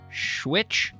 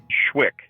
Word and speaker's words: Schwick: Am I pronouncing it right if I say Schwitch? Schwick. The CH at the end, you don't make that, because I liked Schwitch, as in Tarleton smokers would rather fight than Schwitch.